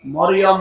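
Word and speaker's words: مريم: মারিয়াম বলা যাবে। এই কথা বুঝতেছে? কি বলা লাগবে? কারণ এই শব্দটা আল্লাহ কোরআনে দিয়েছেন, একটা সূরায় নাযিল করেছেন, সূরা মারিয়াম। আপনার 40টা নেকি হবে এই শব্দটা উচ্চারণ করলে। মিম র ইয়া মিম, মারিয়াম। 40টা নেকি পাবে না। যদি মরিয়ম বলে 40টা গুনাহ হবে, কারণ অর্থ বিকৃত হয়ে গেছে।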